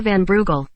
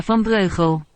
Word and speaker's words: van Breugel: In English I should pronounce this like Marchelma van Brugel. but because she is from the Netherlands, her name sounds like Marchelma van Breugel. in Dutch.